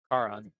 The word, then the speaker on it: Caron: Karen or something like that. Caron. Caron. Yeah, Caron. that's what both the Caron. Caron boys have told me.